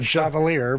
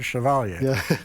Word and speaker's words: Chevalier: not bad all right not chavalier but chavalia so we have John axelrad